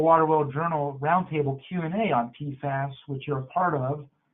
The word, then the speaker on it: PFAS: You know, we're using and the nomenclature has evolved over the years, but we use the term PFAS and pronounce it that way to refer to the whole family of substances.